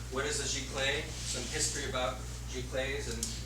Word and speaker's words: Giclée: So we're going to go over the history and the origination of the term Giclee, and that's how it's said, Giclee.